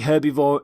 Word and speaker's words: herbivore: herb by the way you pronounce the h in the word herbivore for example the stomach